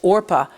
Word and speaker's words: Orpah: So it went down as Orpah on my birth certificate, but people didn't know how to pronounce it. So they put the P before the R in every place else other than the birth certificate.